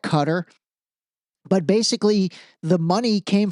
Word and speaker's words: Qatar: ago I was like, why do they pronounce it Qatar? It's a way to make it sound bad. Kind of like Iran and Iran. But I was totally wrong. Turns out it actually kind of is pronouncedqatar. So my bad, cutter.